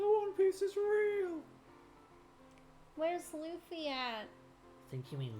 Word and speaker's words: Luffy: Bobby or Bobby Bobby so it's Luffy it's Luffy it's Luffy it's Luffy that's the way they say it in in one piece in Japanese and they also say